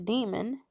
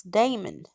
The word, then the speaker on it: daemon: And he told me, when I had said something about a client of mine had a demon, he was like, well, the correct pronunciation is not demon, it's daemon.